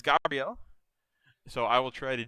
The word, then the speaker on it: Gabriel: I keep forgetting to pronounce correctly. He pronounces it as Gabrielle.